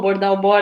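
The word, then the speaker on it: Dowbor: Algo que o livro que você falou do Capital Improdutivo, do Dalbol, né? A pronúncia do nome dele. Acho que é Dalbor, eu ouço das duas formas.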